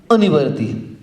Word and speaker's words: अनिवर्ती: पृथक्त्व वितर्क विचार, एकत्व वितर्क अविचार, सूक्ष्म क्रिया अप्रतिपाती और विपरीत क्रिया अनिवर्ती। सही उच्चारण इसका है ये, अनिवर्ती।